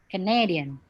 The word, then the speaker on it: Canadian: stress on the word so if it's just like the country canada so you put the stress on the k canada canada but if it's canadian so you change the stress on the word na canadian but if you feel